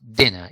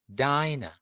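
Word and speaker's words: diner: in this yeah here in dinah there is only one consonant so there is this n letter and something happens with a vowel it is not short anymore it's not dinner it's not e it's i dinah so what's the rule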